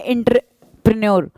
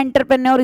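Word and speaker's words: entrepreneur: एक वर्ड हमसे पूछता है एंटरप्रेन्योर, तो हम बोलते हैं एंटरप्रेन्योर, इसलिए गलत लिखते हैं, एक्चुअली प्रोनाउंसिएशन होती है एंट्रीप्रेन्योर, ठीक है, एंट्रीप्रेन्योर।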